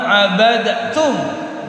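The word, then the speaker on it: عبدتم: Abadtum bunyi aslinya. Abad terus tanya tasdid. Abadtum. Tapi karena ini masuk ke dalam hukum idgham mutajanisain, maka huruf dal sukun dileburkan ke dalam huruf ta, sehingga cara bacanya wala ana 'abidun ma 'abadtum.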